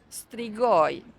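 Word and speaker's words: strigoi: Wait, how do you say strigoy? I'm going to spell it out for you in writing.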